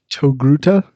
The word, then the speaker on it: Togruta: point for it i don't know how to pronounce it uh togruta that's correct yeah i yep well i did